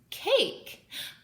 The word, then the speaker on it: cake: Cake. But do we make the E sound at the end? We don't. We just have it. It's kind of silent. It doesn't make any noises.